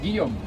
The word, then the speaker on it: Guillaume: Guillaume. Guillaume. Guillaume. How do you spell that?